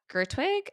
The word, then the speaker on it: Gerwig: So I guess Margot Robbie and Greta Gerwig, I think is how you say her last name.